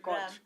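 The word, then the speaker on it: Koç: How do you pronounce it? Koch.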